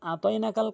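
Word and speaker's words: أعطيناك: এখন যখন অধিকাংশ লোক আইন উচ্চারণ করে না, যার ভুল অর্থ দ্বারায়, সেই ক্ষেত্রে নামাজ ভেঙে যায়।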